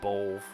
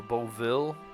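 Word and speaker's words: Beoulve: Let's just go with Bolv. I think Bolv is probably the best way to say it. I like Bolville or Boville would be cooler sounding, but that's just clearly not how it's pronounced.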